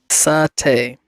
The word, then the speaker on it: satay: But how do you pronounce satay? Satay. Oh, like saute? No, satay.